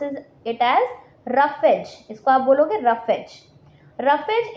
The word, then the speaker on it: roughage: You have to pronounce it एज रफेज।